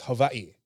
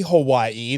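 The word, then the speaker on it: Hawaiʻi: is the line because that's like technically we're mispronouncing it it's not Hawaii it's Havi again when you do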